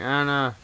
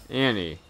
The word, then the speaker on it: Annie: I'm coming, Anna. Ooh, boy. Oh, I got him. Annie. I pronounced it wrong.